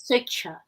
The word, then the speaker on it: Swechcha: Pronounced as Switcher.